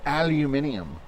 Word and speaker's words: aluminium: You Americans, you don't pronounce anything correctly. It's aluminium.